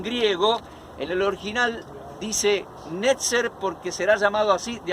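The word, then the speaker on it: נצר: palabra nazareno, obviamente, y esa palabra se pronuncia más o menos como netzer y significa retoño.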